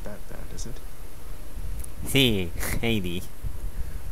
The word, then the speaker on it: Hades: Sí, Hades. Así se pronuncia en inglés.